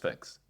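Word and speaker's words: Phix: Is it like Fix. it's just Fix with a PH?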